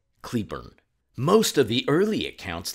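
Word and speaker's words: Cleburne: Starting off with the old foamy road monster in Claybornne, Texas, but I believe locals pronounce it as Cleburn.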